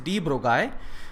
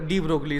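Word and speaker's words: de Broglie: एंड डी ब्रोगली ज़रूर लिखा है, लेकिन इसको एक्चुअल प्रोनाउंसिएशन जो है that is डी ब्रोगाई, बट डी ब्रोगली is fine, सभी डी ब्रोगली बोलते हैं, इट्स ओके।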